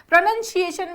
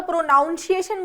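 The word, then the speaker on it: pronunciation: को ध्यान से समझेंगे कई बार बच्चे गलती करते हैं प्रोनंसिएशन में ये प्रोनंसिएशन है और वर्ब की फॉर्म में यह होता है प्रोनाउंस ठीक है ज्यादातर बच्चे इसमें गड़बड़ करते हैं या तो प्रोनाउंस एशन बोलते हैं या प्रंस बोलते हैं तो गलत है है ना नेक्स्ट आता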